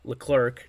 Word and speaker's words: Leclerc: An inning and a third, no hits, 1 strikeout, and then Leclerc, that's how you pronounce his name, pitched an inning, the ninth, and he had 2 strikeouts.